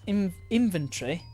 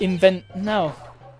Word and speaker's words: inventory: I find people who pronounce inventory with the Tory instead of tree weird, or T. So like inventory. Inventory.